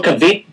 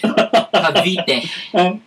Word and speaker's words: Cavite: I saw Cavite. I don't know if I'm pronouncing it right. No, you're not pronouncing it right. Cavite.